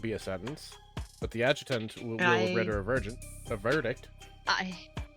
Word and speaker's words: adjutant: But the adjutant will render a verdict. I hate that I mispronounced adjutant. Oh, it's adjutant? Okay. Yeah, it's a soft A, not a hard A.